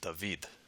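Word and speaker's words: Δαυίδ: papyri, it's likely that the alpha upsilon diphthong was pronounced with a final V sound when it precedes a voiced syllable as it does here. So most likely this word would be pronounced David.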